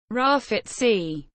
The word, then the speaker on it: Grafite: 1979 in John Dory commonly known as graphite pronounced Rafat sea is a Brazilian footballer who last played for